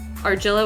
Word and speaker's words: Argilla: type in AR arilla I always say it with a soft G Argilla which is AR RG i l l a arilla demon form just